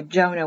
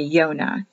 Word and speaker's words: Yonah: hand of god yonah remember the roman catholics change the y to a j so sometimes you'll have letters if you see a j it's supposed to be a one in hebrew so all like a jonah will be yonah this is the latin way the hebrew way is yonah y o n for